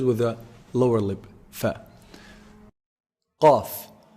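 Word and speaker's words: ق: Qaf. Qaf is pronounced from the deepest part of the tongue. So the closest to the throat, the farthest from the mouth.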